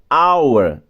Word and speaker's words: hour: 15 eu leio air, porque esse H é mudo. Assim como hour na 16 e assim como honor na 17.